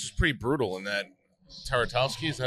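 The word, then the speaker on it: Tartakovsky: Taratowski, is that how you say it?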